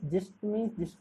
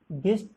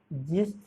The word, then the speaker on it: gist: GIST means जिस्ट means होता है आपका सार, गिस्ट जी नहीं, ये तो गलत है, जिस्ट जी हाँ।